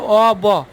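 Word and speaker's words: of: অব মানে কি এর ও এফ ও এফ যেটা সেটা সঠিক উচ্চারণ হচ্ছে অ ব অব তাহলে আম ডুইং বিজনেস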